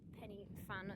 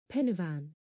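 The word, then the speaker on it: Pen y Fan: The top of Penny Fan, that's definitely not pronounced like that. Pennyvan.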